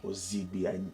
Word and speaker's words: Ozine: Ob like I was going to miss it to try. So the the N is silent and it took me some years to even pronounce your name.